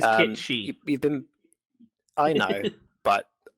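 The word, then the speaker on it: Cait Sith: It is Kate Shi.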